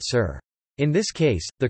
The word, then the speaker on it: šir: For example, sur and esser, meaning milk and lion, respectively, are now both pronounced sur.